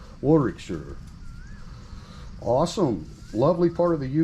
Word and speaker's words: Warwickshire: see you know in in america we would pronounce it shire but i don't think it is in proper english i think it's sure right warrick sir awesome lovely part of